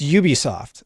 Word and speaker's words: Ubisoft: for today Ubisoft it's Ubisoft and I hear it mispronounced all the time it's from the word ubiquitous and one of the